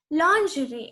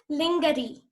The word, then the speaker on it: lingerie: Lingerie. It is not pronounced as lingerie. It's lingerie. G is silent in this word.